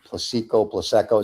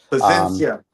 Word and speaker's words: Plasencia: He's a cigar guy I pronounced the name wrong, and I already told you the name, Plaseco. It sounds like a baby. Plasencia.